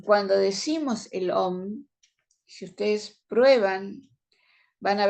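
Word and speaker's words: ॐ: El nombre del Señor es la sílaba sagrada Om.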